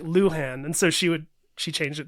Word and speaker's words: Luhan: They'd be like Lujan, and she'd be like Luhan, and so she changed it just to be easier for Americans.